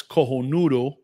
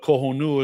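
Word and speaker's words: Cojonudo: They're like, "Well, no, it's kohonudu, but kohu is the way we Cuban people say it because it's it's slang for for being ballsy.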